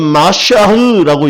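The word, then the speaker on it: מָשִׁיחַ: 그런데 이거를 히브리어는 어떻게 얘기하냐면 마샤흐라고 얘기해요. 그걸 조금 아람어로 얘기하면 메시아, 헬라어로 얘기하면 크리스토스. 지금 우리의 발음으로 하면 뭐다?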